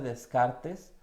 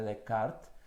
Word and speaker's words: Descartes: llama el error de Descartes al menos así lo leemos mucho en español o en Latinoamérica pero en real la manera correcta de pronunciarlo es el error de decart Y bueno según Antonio